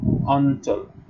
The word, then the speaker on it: অঞ্চল: হ্যাঁ, আর এটি হচ্ছে একটি উচ্চারিত রূপ, ইঁউ এর উচ্চারণ ন এর মতো হবে। ঠিক আছে, সেই হিসেবে আমরা এই এর উচ্চারণ করব অঞ্চল।